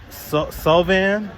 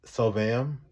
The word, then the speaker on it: Sulvam: So we're on our way to what I believe is pronounced Sulvam, S-U-L-V-A-M.